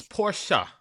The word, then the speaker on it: Portia: It's Portia. Portia. It's Portia. Mm-hmm. I don't know why it irks me so much. Porsche, the car.